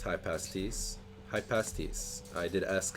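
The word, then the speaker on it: Hypaspist: It is pronounced high pasties.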